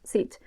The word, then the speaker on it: zit: In this case, it's pronounced sit, but you get the picture.